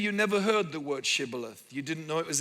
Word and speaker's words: shibboleth: they said all right say Shibboleth if he said similar instead of Shibboleth because he could not pronounce the word correctly they seized him and